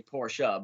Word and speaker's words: Porsche: say the word but i personally like to say it as porsche um but a lot of people do like to say porsha but i i like to say porsche porsche motorsports um so